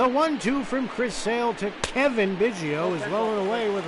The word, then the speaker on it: Cavan: Now back, second baseman, Kevin. Oh, Kevin, like Kevin. Kevin Biggio. His name's Kevin, but it's spelled Cavan.